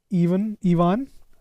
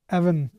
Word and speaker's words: Evan: Let's just quickly talk about the basic ideas that both Ivan, I'm pronouncing it right? Evan, okay.